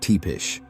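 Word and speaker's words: Țepeș: was Vlad the Impaler Vlad Dees pronounced tepish determined not to be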